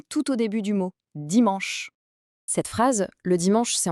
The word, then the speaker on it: dimanche: La prononciation est dimanche. C'est un mot unique dans la semaine. C'est le seul qui ne se termine pas par le son dit.